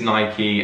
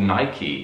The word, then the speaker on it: Nike: nike nike yeah so i still say night you say nike and apparently it is nike and you know guys